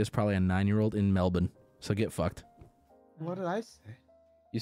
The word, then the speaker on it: Melbourne: way in the hell I'm gonna walk around saying Melbourne there's no way because that's not how it's said so I can understand people being like why are you saying like that because nobody there says it any differently it's it's Melbourne you say it yeah yeah you can't